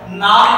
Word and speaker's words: gnawed: नाड़ बेटा जी silent over here, नाड़ मतलब knotted, cantankerous, knotted या twisted bones भी आप कह सकते हो।